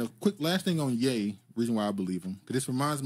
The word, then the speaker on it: Ye: they say ye though is it ye or yay it's yay his name is yay this the problem with